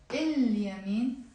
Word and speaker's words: اليمين: And finally يمين, right. اليمين, the right. We pronounce the lam because the ye is a moon letter.